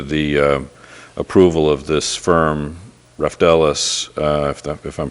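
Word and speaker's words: Raftelis: It's similar to Stephen's question, which is, we've got later on in the agenda the approval of this firm, Reftelis, if I'm pronouncing it correctly. Reftelis, yes.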